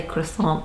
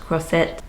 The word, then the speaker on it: Croisette: I kind of want to say croissant, but I think it's pronounced Croisette.